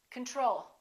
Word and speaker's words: control: do we say control we say control second syllable is stressed the first o is reduced repeat after me control the next one is